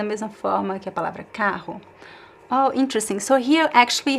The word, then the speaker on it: carro: But carro is always pronounced the same way, is always pronounced here, carro. It could be, the R could be a little bit softer or stronger, carro, but always on your throat, right, carro.